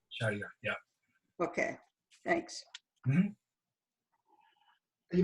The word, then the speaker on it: Shahryar: Shahryar, yeah.